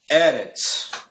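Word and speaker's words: ארץ: Por exemplo, erets, né? Erets. Aí são duas vogais breves que é o segolets. Ou seja, aí aí muda, né? Aí já uma uma já se torna ali uma pronúncia já um pouco bem mais curta do que quando se tem vogal longa e vogal breve ou vice-versa.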